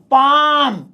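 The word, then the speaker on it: palm: की भाई इसके अंदर ये जो एल है ये खामखा है ये साइलेंट है एक्चुअली में इसे हम पैम पड़ेंगे पैम पैम अरे अंग्रेजी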